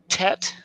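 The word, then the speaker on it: ט: Tet is the T.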